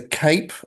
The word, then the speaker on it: CAPE: There's a cape filing window and that's pronounced or spelled C A P.